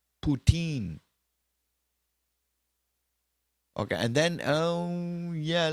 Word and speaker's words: poutine: now I'm back to the chat oh it's pronounced poutine okay and then um yeah let's go Frank